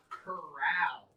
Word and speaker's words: corral: If you put the wrong emphasis on the wrong syllable, you can saddle up your horse, saddle up your horse, and gallop into the corral. Spelled the same, sounds different. Corral, where horses go. Coral, what's in the ocean.